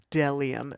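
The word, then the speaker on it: bdellium: who tries to pronounced delium the bee is silent they do have some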